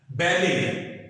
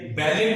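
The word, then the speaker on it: ballet: बैले, बैले, बैलेट नहीं है। कई लोग मैंने देखा है इसको बैलेट पढ़ते हैं, जो गलत है। सही प्रोनाउंसिएशन क्या है? बैले।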